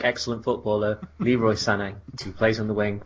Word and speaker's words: Sané: Maybe it's truly pronounced Sané, like excellent footballer Leroy Sané, who plays on the wing for Manchester City.